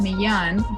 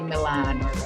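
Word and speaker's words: Millán: mi ll and so in Spanish it's pronounced me yawn but in English say Milan so meal and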